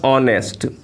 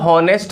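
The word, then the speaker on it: honest: हम ही इज़ अ हॉनेस्ट मैन ऐसा नहीं कहते हैं क्योंकि इसमें ऑनेस्ट में एच साइलेंट होता है, इसका उच्चारण हम ऑ से करते हैं कि ही इज़ एन ऑनेस्ट मैन।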